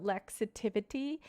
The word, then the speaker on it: Lexitivity: Lexi mixed with positivity. So Lexitivity, that's how you say it if you're curious.